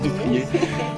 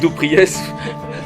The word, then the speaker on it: Dupriez: Nos acompaña, no sé si lo voy a pronunciar bien tu nombre, Dupriez, en francés Dupriez. Aquí dicen Dupriez, está bien.